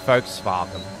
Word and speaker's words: Volkswagen: A V becomes an F. It's like Volkswagen should be Volkswagen. Like people car.